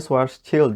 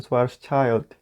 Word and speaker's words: Schwarzschild: Ini dibacanya Schwarzschild ya, oke? Bukan Schwarzschild. Susah emang nulisnya.